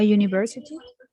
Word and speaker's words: university: Tiene que ver con los sonidos. Ay, pues lo voy a decir en español. Yo creo que es porque el fonema se escribe con esa, que es como J de you. Exactly. Exactly. That's the answer. That's the answer. Lo que pasa es que el sonido you es una semivocal.